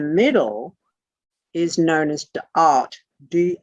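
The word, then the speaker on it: Da'at: is known as the art d a apostrophe ath art d it's up on the board they're d a apostrophe ath and what the apostrophe is is to make certain that you don't mistake the double a the double a in this language is oyin which is a very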